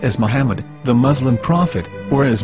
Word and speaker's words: Muhammad: yehuda's Hebrew English dictionary it is correctly pronounced as Muhammad not mammad so how we're going to know for sure if it's pronounced as Muhammad the Muslim Prophet or